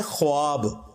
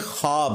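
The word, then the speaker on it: خواب: लफ्ज लिखने में है ख्वाब खवा वव अलिफ बा लेकिन पढ़ने में यह खवाब है व साइलेंट हो जाता है ख्वाब पढ़ा जाता है यह लफ उर्दू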